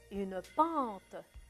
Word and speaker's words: pente: j'entends pas à la fin. je n'entends pas le E. je ne le prononce pas trop.